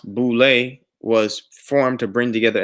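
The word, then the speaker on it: Boulé: acronym for sy for Sigma Pi Phi and pronounced boule was formed to bring together a select group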